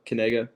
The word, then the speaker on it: Knigga: how you pronounce my name uh I'm kega that's how you pronounce my name so kega that'sa yep